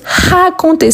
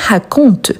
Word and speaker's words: raconté: Donc elle est bien raconté. Ce n'est pas raconte. Donc je peux éliminer le e. sans action parce que ce n'est pas raconte. La prononciation elle est différente donc elle est bien raconté.